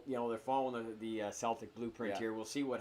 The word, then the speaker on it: Celtics: with that too then Boston Celtics Celtic is the proper pronunciation of it but obviously it's never been the case they were down three